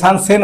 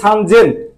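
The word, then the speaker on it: 三千: 3000 বললে সান জেন, ব্যতিক্রম, সান জেন, মানে 3 যদি 3 না দিত তাহলে হয়তো সেন হইতো, সান সেন হইতো। কিন্তু ওরা সান সেন না বলে বলে সান জেন, ব্যতিক্রম রাখছে, এটা 3 দিছে, সান জেন।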